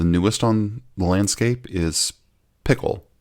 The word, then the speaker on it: Pkl: Well, I think the hottest one, well, maybe not the hottest, but the newest on the landscape is Pickle. Yes, PKL. That's pronounced pickle from Apple.